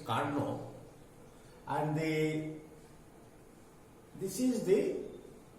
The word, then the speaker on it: Carnot: of the second engine it's the pronunciation is karna and they this is